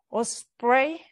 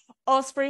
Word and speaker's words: Osprey: this year just last week the launched this or spray I had to to check how to pronounce that because I was not sure Osprey with 433 qubits yeah so some of the